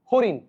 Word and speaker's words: হরিণ: আমি এখানে কি লিখছি হরিণ মুদধন্য না আছে এটার উচ্চারণে কি হয়ে যাবে হঋণ দন্তন্য হসন্দ হয়ে যাচ্ছে কথা কি বুঝা গিয়েছে